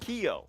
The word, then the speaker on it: Kyo: For the folks at home, that's pronounced Kyo, or at least that is what they have told us to call them. So, Kyo, dropping out of heaven